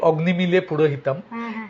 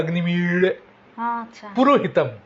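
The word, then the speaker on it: অগ্নিমীড়ে পুরোহিতম্: কারণ ঋগ্বেদের প্রথম যে মন্ত্র, সেটা অগ্নিমিড় পুরোহিতম, আমরা বাংলায় বলি অগ্নিমিলে পুরোহিতম, এই লটা হচ্ছে মূর্ধন্য ল, এটার উচ্চারণ হবে অগ্নিমিড় পুরোহিতম।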